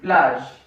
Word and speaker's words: plage: We use it in plage.